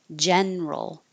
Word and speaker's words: general: But this is one of the words where the middle syllable gets dropped and we make it just two, federal. Others with that same pattern, general, several. So federal, even with the suffix ism, federalism, Canadian federalism.